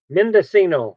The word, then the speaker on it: Mendocino: do you say that at County Medus Ino Mendocino yeah Mendocino County and their team are working